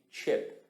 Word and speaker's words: chip: Bastante atenção na pronúncia, tem um I bem curtinho, né? Então tem o CH ali de ch, né? Aquele som do CH, e um I bem curtinho e o P logo em seguida.